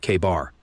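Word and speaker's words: KA-BAR: And yeah, we're pronouncing that bad boy like it's written, K-bar.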